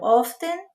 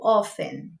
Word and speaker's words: often: Frequentemente, eu falo often. Então, percebe que tem um T na escrita, só que esse T ele pode ser pronunciado ou ele pode ser omitido.